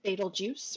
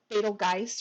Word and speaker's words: Betelgeuse: This red star is known as Betelgeuse or Betelgeuse or Betelgeuse. There's a couple of different ways that people pronounce it.